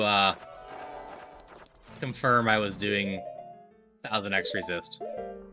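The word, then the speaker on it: 1000xRESIST: Uh, it took me a while um to uh confirm I was doing thousandx resist. Yes, the X is pronounced.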